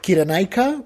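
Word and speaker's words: Cyrene: Well, I guess the Greek way would be like Kiranica, but Sirene.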